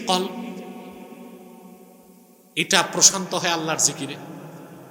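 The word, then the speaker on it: قلب: থাকে না ঘুরাঘুরি করে এজন্য এটার নাম হচ্ছে কল নাম কি কল উচ্চারণ ঠিক করতে হবে অনেক মৌলভী দেখি উচ্চারণ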